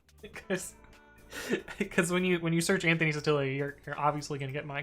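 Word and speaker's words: Sottile: Well, according to the internet, there are 6 Anthony Satilis in the United States, or Sotile if you're pronouncing it properly.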